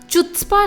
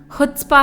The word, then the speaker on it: chutzpah: वैसे तो इस शब्द का सही उच्चारण खुत्स्पा है, लेकिन इसे हिंदी की चू से शुरू होने वाली एक गाली के समान मानते हुए इस तरह कहा गया है।